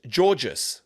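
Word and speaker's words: Giourgis: um Greek, mine is my surname is George. Now, you think it's spelled George with an S. Yeah. But if I said to you, it's G I O U R G I S. There's no George in it, but it's gorgeous.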